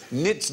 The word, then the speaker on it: knits: Welcome to QA, where tonight the K is silent, as in knits, knots, knackers and knobs.